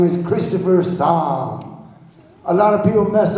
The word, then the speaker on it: Saam: I'm a stand-up comedian my name is Christopher saw a lot of people mess up my last name is pronouncing in the bible only spelled differently since